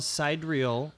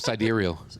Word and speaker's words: sidereal: founding members of International Cidrial Astrology Association. Did I say that right? Nope. Cidereal. I said it wrong.